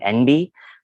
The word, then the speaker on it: enby: A term some people might be starting to hear more often is the term NB, which it's spelled ENBY, and it is basically just an abbreviation of non-binary itself.